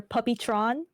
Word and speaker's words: Puppyatron: Well, my full name is Puppyatron. A lot of people will. A lot of people don't say it right, so I'm saying it here. I've heard people say Puppy Atron or Puppytron, which I don't mind.